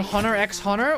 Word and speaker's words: Hunter x Hunter: they use normal you don't pronounce the X and A Hunter x Hunter well then why is